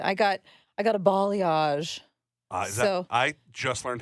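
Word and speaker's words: balayage: clothes b b bage balage balage like the the country Bali thought it's not spelled that way but apparently that's how you say it wait hold up b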